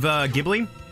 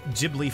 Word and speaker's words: Ghibli: movie night ah witness the awesomeness of Ghibli yeah I really like spirited away oh my uh it's pronounced Ghibli by the way thank you ah thank you